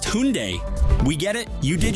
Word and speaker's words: Hyundai: And actually, it's pronounced Hyundai.